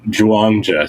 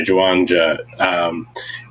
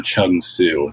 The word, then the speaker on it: Zhuangzi: And a few hundred years later, there's this guy, Zhuangzi. Ram Dass pronounces his name Chung Su. That's the improper Chinese pronunciations.